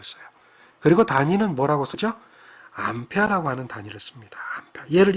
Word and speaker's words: 암페어: 암페어라고 그러죠 안 펴 이거는 이제 사람 이름이에요 앙페르이 사람의 이름인데 그 사람의 첫 번째 문자 a를 따서 암페어 암페르라고는 안 하고요 발음상 그런 거고요 암페어라고 하는 단위로 읽는다